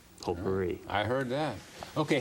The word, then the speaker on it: potpourri: But I can hit this button labeled say and confirm that it is pronounced potpourri.